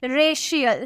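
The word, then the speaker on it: racial: को मिला ना तो इसका प्रनंसीएशन कैसे करेंगे शो में करेंगे हम क्या बोलेंगे रेसियल शो में प्रोनाउंस करेंगे ठीक है इस तरह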